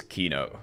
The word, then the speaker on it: Keenoe: It is Keenoe. That is how I pronounce it.